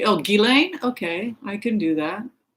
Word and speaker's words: Ghislaine: People want me to look at Ghislaine. Is it Ghislaine? Is it Ghislaine? I can't. I thought it was a soft G. Oh, Ghislaine?